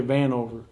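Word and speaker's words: Vanover: i'm sorry it's like conor van anover yeah van over he's he's a good good player he shoots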